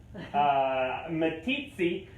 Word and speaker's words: Meeteetse: So it wasn't until about 1981 in, let me make sure I pronounce it correctly, Meeteetse, Wyoming, where these guys were rediscovered by a little dog named Shep.